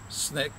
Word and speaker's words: SNCC: Student Nonviolent Coordinating Committee SNCC pronounced snake the sort of growing